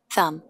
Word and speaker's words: thumb: trabalhado anteriormente, né, pessoal, por vezes em inglês o TH tem um som diferenciado, não é o som de T que nós conhecemos no português, é um som como se fosse um F entre os dentes, né, o thumb, que